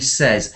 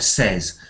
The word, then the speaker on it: says: read it like Nagi says and we were speaking about that earlier so we usually pronounce says as s like says and not say and that's what you